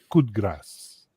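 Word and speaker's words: coup de grâce: That's how you say it. You don't pronounce the d so hard. Is that just in? It's just the Quebec way the word, French? it's just the way the expression works in French.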